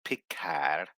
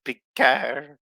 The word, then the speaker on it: Picard: something changed in Jean-Luc piccad it's like how vadic says it Jean-Luc picar she says it properly too you know without the D is silent anyway Charlotte Picard when